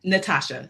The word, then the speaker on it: Natoshia: Natasha is spelled N A T O S H I A. Don't talk about it. It is my name. Okay. So, um and it's spelled and it said Natasha. So, you don't have to worry about saying all the syllables.